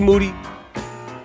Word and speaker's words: Moody: I'm here with Moody, whose last name rhymes with duty.